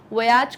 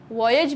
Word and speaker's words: voyage: फिर से मैं आपको याद दिला दूं, voyage को हम voyage भी कह सकते हैं. दोनों both the pronunciations are correct.